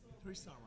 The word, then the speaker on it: Harish Sarma: How would you pronounce it? Harish Sarma.